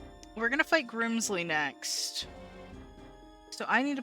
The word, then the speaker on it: Grimsley: You gotta say it like that. You gotta roll the R. And I will fulfill my duty to be your opponent. You gotta roll the R. It's not Grimsley, it's Grimsley.